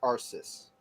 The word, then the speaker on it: Arceus: Okay, is the C and S sound? Yes. Or is it okay? So it's Arceus. Arceus.